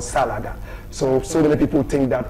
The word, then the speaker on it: Salaga: It's called a Salaga Soldier. Salaga is spelled S-A-L-A-G-A.